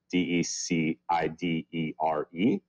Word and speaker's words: decidere: The word comes from decidir, which I believe is how it's pronounced in Latin, D-E-C-I-D-E-R-E, which literally means to cut off.